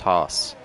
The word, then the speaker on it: Haas: So we both agree it's pronounced Haas. No Haas in this booth.